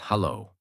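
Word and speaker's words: Halló: or doer daughter 14 hello in Icelandic is pronounced hello thank thank you is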